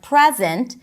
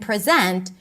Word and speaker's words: present: And this is especially important that when we have two different words that the only difference is the primary stress, like present and present or record and record.